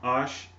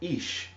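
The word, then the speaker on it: אש: And we know that the word fire is pronounced ash, and with the the vowel points and things of that sort, through grammatical purposes with the call stem and everything like that. It's pronounced also ish, and ish means man, ash means man, ash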